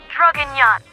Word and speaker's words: Draguignan: I am not good at speaking French, but I'm pretty sure it is pronounced Draguignan.